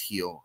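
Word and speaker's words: Gil: to talk about Luis Heel. And if you don't know Luis Heel, that last name, if you're not watching on uh YouTube, is spelled G I L but is pronounced Heel.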